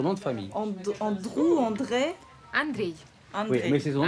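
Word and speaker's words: Андрей: On a un réalisateur russe qui s'appelle Andrew et j'aimerais bien savoir comment je dois prononcer son nom de famille. Andrew, André? Andrei.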